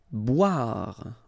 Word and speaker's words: boire: Boire. Okay, remember, O-I, wa, wa, wa, wa, bois, boire.